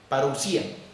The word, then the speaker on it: parousia: Y la palabra original para venida es parousia, que tiene acento en la I, parousia.